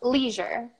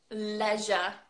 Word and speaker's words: leisure: that well I understand yes how would you pronounce this leisure leisure Wow measure a new user we don't even